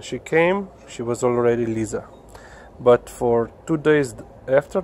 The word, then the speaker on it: Liza: so her name is Lisa as you can ask here in Slovenia so it spelled L I dig that a you can also pronounce it as Liza which our American friends will do but we call her